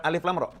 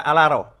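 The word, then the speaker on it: الر: tidak tahu baca Al-Quran, maka membacanya bukan alif lam ro. Membacanya seperti orang membaca dalam bahasa Arab. Akan dibaca alaro.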